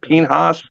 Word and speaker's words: Pinhas: Guy Pinhas, is that how you say it? Pinhas?